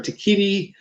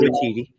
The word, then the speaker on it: Waititi: know that I can never remember how to pronounce it right. Takiti will not be returning Taika as. Waititi.